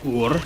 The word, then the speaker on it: Ullr: Because it's ULLR, so you know how tough that is. Because it's like Ur, something like that.